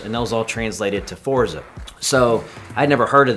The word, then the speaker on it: Forza: And, you know, so Forza sounded exactly like it's spelled, and it's very easy to spell. It's 2 syllables, and I liked it.